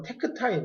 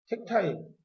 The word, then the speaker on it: 택타임: 보통 이제 이 A가 나오는 이 시간 간격을 우리가 뭐라고 하는 거냐면 택타임이라고 부릅니다. 독일식 발음을 하면 뭐 테크타임 이렇게 부르는데 택타임.